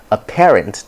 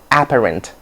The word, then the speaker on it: apparent: to me you know as many of us tend to say apparent apparent i don't know why that is but that's not the correct pronunciation you say that something is a parent or you say apparently not apparently apparently a parent okay all right so